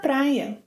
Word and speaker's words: para: Don't forget that para can be pronounced as pra.